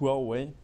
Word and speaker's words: Huawei: you for the pronunciation so it's pronounced well way you might have not